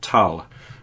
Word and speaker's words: Thale: This is similar in that sense, but a lot more of a serious, normal kind of film, and it's called Thale, or Tal, is actually how you pronounce it.